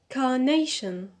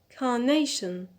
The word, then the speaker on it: carnation: first syllable on ca carnation carnation so here the stress is on nay because we have the suffix ion so the stress is on the penal the second from the end on nay paradise paradise so here